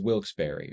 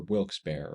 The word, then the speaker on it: Wilkes-Barre: Down in the valley is Wilkes-Barre, or Wilkes-Barre, or Wilkes-Barre.